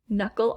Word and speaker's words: knuckle: w as in wrinkle silent k as in knuckle knuckle obviously it says first k that is silent that we do not hear and lastly silent h